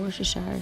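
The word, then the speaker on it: Worcestershire: was add some feeling worse a shire sauce I believe is how you say it and voila alright guys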